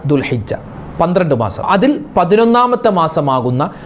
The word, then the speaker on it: ദുൽഹിജ്ജ: അതുപോലെ ചില ആളുകൾ ദുൽഹജ്ജ മാസം അതിന് വരുന്നത്, നമ്മൾക്ക് ഇനി ഹജ്ജിൻ്റെ മാസം ദുൽഹജ്ജ മാസമല്ലേ, ദുൽഹജ്ജ എന്ന് പറയാറുണ്ട്, അതുപോലെ ദുൽഹുജ്ജ എന്ന് പറയാറുണ്ട്. അതൊക്കെ തെറ്റാണ്. ദുൽഹിജ്ജ മാസം, ദുൽഖഅദ മാസം, ദുൽഹിജ്ജ മാസം, ദുൽഖഅദ മാസം, ദുൽഹിജ്ജ മാസം.